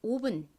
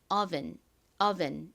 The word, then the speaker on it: oven: 한국식으로는 오라고 발음하고 V은 은이라고 읽어서 오븐 이렇게 표기하는데요. 실제 미국식 원어 발음으로는이 단어에서가 아니라 어에 가까운 소리로 발음이 됩니다. 그래서 정확기는 oven 이렇게 발음해 주셔야 됩니다.